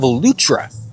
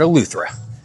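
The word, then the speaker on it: Eleuthera: So, based on the uh lyrics of the song, I've been pronouncing this island a little bit wrong. It's the island of Alutra, not Alra.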